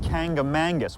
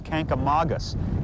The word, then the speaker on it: Kancamagus: aquariums Paul Erikson now where I grew up they said kanga mangas which isn't correct now make sure I get this right but the proper pronunciation is can come August and that name comes